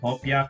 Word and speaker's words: hopia: Would you believe in the Philippines we call it hopia paper?